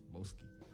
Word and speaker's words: B0aske: B0aske. That's how it's pronounced.